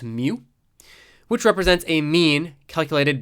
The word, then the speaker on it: mu: U with a little tail on the left, pronounced mu, which represents a mean calculated based on an entire population.